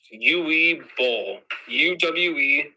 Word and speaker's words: Uwe Boll: His name is pronounced Uwe Boll.